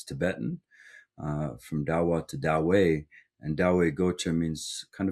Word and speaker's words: Dawai: Dawei, like you could think of it maybe Dawei. like the Tao way.